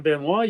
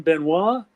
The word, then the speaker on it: Benoist: He said, "I said a lot of guys in the military and stuff pronounce it Benoist, English Benoist, French Benoist. But I said, there are people who know the French pronunciation."